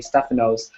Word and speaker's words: Stefano: There aren't that very many Stefanos, and I'll take this time to correct the two of you on the pronunciation of my name. It's Stefano, not Stefano.